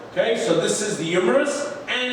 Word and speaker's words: humerus: So, the longest bone in the arm is called the humerus. Humerus, spelled with an H.